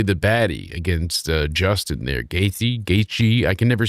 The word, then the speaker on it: Gaethje: Let's see how they are looking at how to pronounce the MMA fighter of the Union Safety record, Ferguson. Justin Gaethje. Justin Gaethje is what this Julian McKell says.